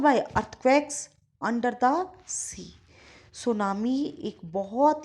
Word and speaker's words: tsunami: और जैसा कि आप देख रहे हैं सुनामी टी वर्ड से स्टार्ट हो रहा है, पर इसमें टी साइलेंट है।